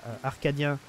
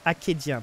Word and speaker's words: acadien: Le blindage 4, donc ça vient des casques en arcadien, c'est ça? J'oublie le nom maintenant, je le prononce bien, acadien, pardon, c'est pas pareil, acadien.